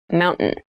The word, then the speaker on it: mountain: top keep in mind when you pronounce this word in fast speech it sounds like mountain the t sound is reduced the little town was